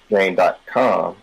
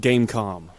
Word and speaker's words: Game.com: It was actually just pronounced Gamecom. Oh, that's like, okay, I'm stupid. That's like it is a .com. It is styled as a .com, but they called it Gamecom.